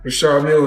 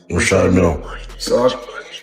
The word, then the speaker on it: Richard Mille: No, I like to call this people pronounce them different ways. Rashard Mill is what my jeweler told me, so. That's exactly how you say it, Rashad. Rashad Mille.